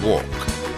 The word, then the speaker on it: walk: is silent in not the L is silent in walk the beat is silent